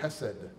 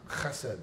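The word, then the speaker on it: חסד: The word for unfailing love is a Hebrew word, hesed. Actually, it's pronounced chesed, but there's the first two rows are empty, so it's safe to say that here.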